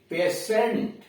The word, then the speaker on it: patient: IO हो, ION इत्यादि हो तो टी का उच्चारण श, बड़ा वाला श होता है। जैसे PARTIAL पार्सल, PARTIAL पार्सल, आंशिक। PATIENT पेशेंट, PATIENT पेशेंट।